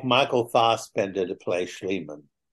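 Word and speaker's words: Fassbender: Bender to play schan Michael fast Bender I like how you say his name he would be a good schan yeah he's cool you're so funny it's it's a German yeah yeah right so you're a purist you're a purist so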